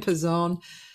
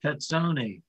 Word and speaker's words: Pezzone: And then I, out in the hair, a couple conductors started to say, why don't you pronounce it Pezzone, like they do in Italy?